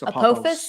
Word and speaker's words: Apophis: Not Today Saban earlier said, so can you pronounce that? Apophis? Apophis.